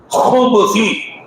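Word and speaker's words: خُبُثِ: ஹு சொல்லணும். சரியா? ஹு, அந்த ஹாவுடைய உச்சரிப்பு வரணும். ஹுபுஸி வல் ஹபாயிஸி.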